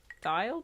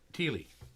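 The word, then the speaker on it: Thile: Did you find the Tile pick? T-H-I-L-E? Teely.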